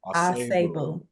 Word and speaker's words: Asebu: How do you say last name? Asabu, I think. Asebu. Asabu. Asebu. Asebu. Boom. Asebu. Asebu. Great job.